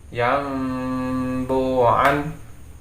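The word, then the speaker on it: يَنْبُوعًا: Kita baca sini lafadznya yanbu'a, kemudian kalau kita baca menjadi iklab maka membacanya yambu'an. Saya ulangi lagi, yambu'an.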